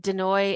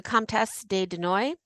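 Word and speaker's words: de Noailles: But de Noy is Denoailles. So she's the Comtesse de Noy.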